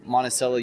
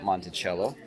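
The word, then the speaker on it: Monticello: to pull over in Monella Utah yes it's pronounced monel not Montello uh I don't know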